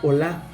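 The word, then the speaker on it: עולה: El holocausto en hebreo significa, o se pronuncia olá, o sea, significa que sube.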